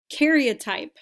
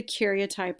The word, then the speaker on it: karyotype: need you to write down is the word karyotype karyotype that's what you're looking at right now